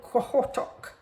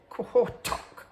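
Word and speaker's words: Qaqortoq: and a place called, lots of Q's, no U's, and it's actually called Quahotok. Apparently, is how you pronounce that. And so we did a walking tour, and let's see what else I've got here. So oh, that was the next part of the trip. So there you go. That's apparently that is pronounced Kohortok.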